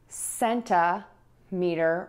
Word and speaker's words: centimeter: And we can add sɛntəˌmitər or mɪləˌmitər. The tip for you here is that we are going to use that schwa syllable in that word. So you're gonna have sɛntəˌmitər, sɛntəˌmitər, and mɪləˌmitər, mɪləˌmitər.